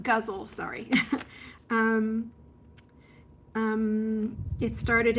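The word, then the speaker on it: ghazal: of syllables there oh it's pronounced guzzle sorry um um it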